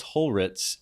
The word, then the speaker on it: Holritz: So I always just go with Ritz crackers. People know it, R-I-T-Z, how to pronounce that, how to say that, and then just stick hole on the front of it, and they're good to go.